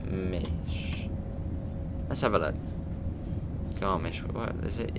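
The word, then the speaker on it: Garmisch: tea over to garbage or have you pronounced pronounce it let me check it's garmish in germany or is it in switzerland i'm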